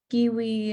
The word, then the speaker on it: kiwi: In our kitchen, kiwi is pronounced like a Puerto Rican grandmother singing. Kiwi ends the way coqui ends, and that I will not teach.